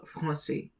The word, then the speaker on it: français: The AN is pronounced as on, so it becomes franc. And then with the use of cédille, it becomes c'est. The S at the end is silent. Le français.